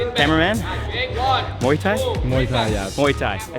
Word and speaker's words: Muay Thai: Muay Thai, yeah.